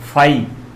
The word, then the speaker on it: phi: फाई। फाई का मतलब PHI, है ना? PHI, हिंदी में इसका उच्चारण क्या होता है? फाई।